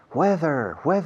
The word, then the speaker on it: whether: Whether is spelled W-H-E-T-H-E-R. Dos H's aquí. After the W at the beginning and in the middle, T-H. Weather. Suena a tiempo atmosférico, ¿a que sí?